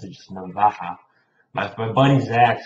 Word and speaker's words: Navaja: That's how I pronounce it, just Navaja.